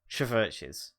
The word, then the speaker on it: CHVRCHES: CHVRCHES.